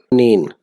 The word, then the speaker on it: quinine: कुनीन, कुनीन को कुनीन बोलेंगे। कुनीन, कुनीन की स्पेलिंग QUININE के साथ।